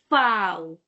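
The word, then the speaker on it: Vau: Now v is called fow. Foul. Point to be noted is that v will not give you v sound but it will give you p sound. F sound. Those who understand Hindi it will give you this for say F sound and not V sound say one no per say.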